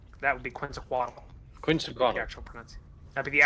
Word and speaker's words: Quetzalcoatl: Quetzalcoatl. The actual That'd be the actual pronunciation of that.